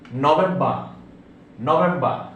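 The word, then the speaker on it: November: নভেম্বর, নভেম্বর, শেষে আর উচ্চারিত হবে না, ডিসেম্বর, ডিসেম্বর।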